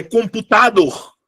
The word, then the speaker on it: computador: É computador ou é computador? É computador. A minha sílaba tônica não é a antepenúltima. Ou não é a penúltima, perdão. A minha sílaba tônica é a última.